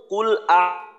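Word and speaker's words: قل: আউজুবি রাব্বি আরেকবার বলি কফের উচ্চারণটা কফ লাম পেশ কুল এটা শক্ত করতে হবে কফের উচ্চারণটা আর আউ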